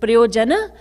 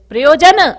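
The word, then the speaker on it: प्रयोजन: that looks easy and raji said priyo janna and i said priyojan maharajji said no priyo janna and i thought i don't know what maharaji means and i said priyojan maraji said prayojana and i said yes this is not hindi in hindi you would you would pronounce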